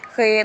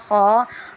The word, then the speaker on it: خ: تلفظ سے پرہیز کریں، یعنی بے، تے، سے، ہے، خے، توے، زوے وغیرہ ہرگز نہ پڑھیں، بلکہ با، تا، سا، ہا، خا، قا، غا پڑھیں۔ یعنی جس طرح